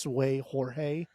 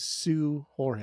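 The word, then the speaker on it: Seu Jorge: I don't think the SEU is pronounced Sway. I think that's actually pronounced Sue.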